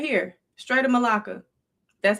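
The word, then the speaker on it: Malacca: Right here, straight of Malaa.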